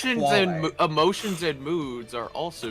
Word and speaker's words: quale: Emotions, Quale. emotions, Yeah, it's pronounced quale.